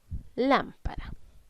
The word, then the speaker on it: lámpara: Lámpara. En la palabra lámpara debemos identificar primero que todo dónde estoy cargando la voz. Y estoy cargando la voz en la sílaba lam.